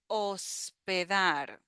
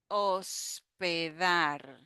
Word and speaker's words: hospedar: Next word that we have is hospedar. Hospedar. So we have the O sound in the first syllable. O. In Spanish, the letter H is silent. We don't pronounce the H in Spanish. Hospedar.